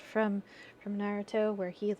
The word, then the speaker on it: Naruto: I think it's actually pronounced Naruto.